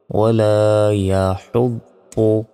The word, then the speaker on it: ولا يحض: অনেকে ভুল উচ্চারণ আমরা করি, বলি যে ওয়ালা ইয়াহুদ্দু, এটা ভুল, ওয়ালা ইয়াহুদ্দু।